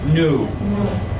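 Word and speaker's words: knew: today I know yesterday I new silent k today I make yesterday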